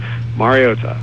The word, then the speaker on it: Mariota: the name, and others, want the more traditional pronunciation. But Marcus himself, he is the most important person in this. Says Mariota.